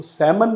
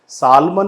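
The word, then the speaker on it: salmon: इसको सैमन बोला जाता है, सालमन नहीं बोला जाता है, सैलमन नहीं बोला जाता है, इसे बोला जाता है सैमन। तो ये जो ल साउंड है वो साइलेंट है यहाँ पे, और ये ऑप्शन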